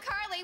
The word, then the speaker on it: Carly: Earth Jupiter in Wisconsin I'm Carly which rhymes with barley lead singer of the